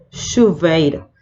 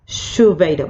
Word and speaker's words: chuveiro: CH, aquí hay que tener en cuenta esta pronunciación, va a ser chave, chuveiro. No tiene sonido de chancho, ¿sí? No existe sonido chancho, es chave, chuveiro, va a sonar sh, ¿sí?